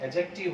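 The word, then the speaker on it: adjective: क्या है ये, डी जो होता है इसमें साइलेंट होता है, कभी भी ए और जे के बीच में जो डी आता है इसकी साउंड हम नहीं लेते हैं, एडजेक्टिव होता है ये।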